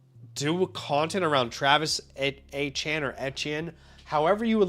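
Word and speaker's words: Etienne: I've heard at the press conference him say Achan. I've heard afterwards him say Etien. And obviously we all know like ETN is not how you say it anymore, but like people are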